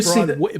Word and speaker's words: Broadway: You got to say Broadway. Broadway. If you're a New Yorker, you got to say it like it's two words.